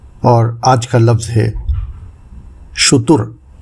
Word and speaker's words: شتر: آج کا لفظ ہے شتر، جو درست ہے شتر یا شتر، غلط ہے جو عام طور سے استعمال کیا جاتا ہے۔ اس کے معنی ہیں